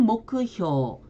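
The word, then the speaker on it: 目標: 일본어 발음을 확인해 보면 목표는 모크효, 면목은 멘보크 이렇게 발음이 됩니다.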